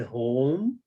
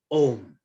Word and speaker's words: Om: We are so used to using the word home that home is Havan. Havan is a ritual. Om does not have her. It is our wrong pronunciation. It is Om.